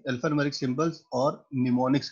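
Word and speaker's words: mnemonics: है alphanumeric symbols और निमोनिक्स कहते हैं इसको एम साइलेंट है ठीक है निमोनिक्स कोड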